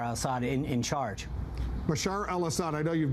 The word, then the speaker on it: Bashar: can see a stable and peaceful Syria with bashad Al Bashar Al Assad in in charge Bashar al- Assad I know you've mispronounced his name a few times but uh